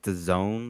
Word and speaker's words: DAZN: Uh I think they pronounce it like the zone or some shit like that.